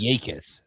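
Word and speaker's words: Jacas: The J is silent. I knew that J was silent, but I thought it was like a Y or something.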